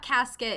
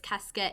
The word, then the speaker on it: casquette: like for dead bodies it's not casket it's cascade it's c-a-s-q-u-e-t-t-e um i believe it's